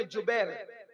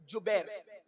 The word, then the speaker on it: جبیر: اس درے پر 50 صحابہ کو عبداللہ ابن جبیر, زبیر نہیں بلکہ جبیر, جیم سے جبیر, تھوڑا سا آج کل